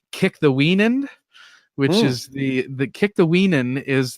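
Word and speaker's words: Kikthawenund: This is where I learned essentially this name that I'm glad I listened to the Saints version on audiobook so I'd know how to pronounce Kick-the-Weenan, which is the Kick-the-Weenan is the name of the Delaware Indians tribal leader.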